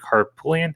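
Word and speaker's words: Harpootlian: for a state senate race too with dick harpullian am i pronouncing that right yeah um so you know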